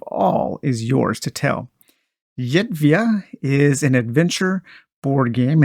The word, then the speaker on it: Zerywia: I believe it's Zerywia because I think one of my favorite beers is Żywiec, and so I'm kind of pronouncing it the same way that I would pronounce Żywiec, and it's Zerywia, I believe.